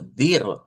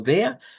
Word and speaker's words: der: De acuerdo a la información que tenemos acá, la podemos pronunciar como dir, que sería el primer sonido, dir, que sería más acento austriaco. Tenemos el acento como dia, que sería siempre Deutsche Standard, el sonarlo como dea y una pronunciación poco usual, que es sonarlo como da, pero eso es poco usual.